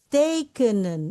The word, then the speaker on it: tekenen: Tekenen ini terjadi dari 3 suku kata, yang 2-nya panjang. Tekenen.